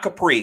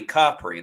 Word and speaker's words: Capri: at um Amalfi sarento um visited Capri not Capri Capri they're little uh they want to make sure you got the pronunciation correct uh Positano and like one other